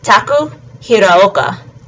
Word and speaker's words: Taku Hiraoka: And then last of the half-pipe snowboarders with Japanese men is Taku Hiraoka. And again, he's got the Ao sound in his last name, so it's Taku Hiraoka.